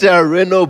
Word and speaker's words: Renault: It's Renault. How do you pronounce it? So it's written Renault, but it's pronounced Renault because it's French. Renault. You say it like a French.